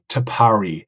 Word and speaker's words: Tapari: been a little bit think about how to pronounce it but we settled on tapari tapari is such a unique and Innovative concept